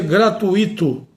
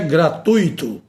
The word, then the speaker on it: gratuito: Muita gente pronuncia gratuito, mas não é. Não tem, não há o acento agudo no i da palavra gratuito, porque a palavra não se pronuncia assim. A pronúncia é gratuito, a pronúncia é fortuito, a pronúncia é circuito.